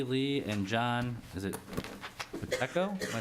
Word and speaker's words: Pacheco: Chair, my name is John Pacheco, and I'm the Workforce Initiative Director for CLUES, Comunidades, Latinas, United, and Servicio.